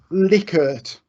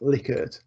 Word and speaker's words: Likert: okay the other one this likert or likert as everyone pronounces it it is it is I am I am assured it is pronounced liquored I'm sure you've seen